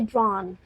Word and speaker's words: drowned: He almost drowned. और इसकी जो हम देखिए प्रोनाउंसिएशन है, इसको हम drowned नहीं कहेंगे, इसको हम कहेंगे drawn, drawn.